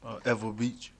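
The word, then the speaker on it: Ewa Beach: Eva Beach.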